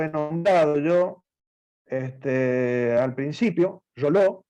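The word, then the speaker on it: Reuleaux: nombrado yo al principio, Roló, o Realeau, se escribe Realeau, Roló.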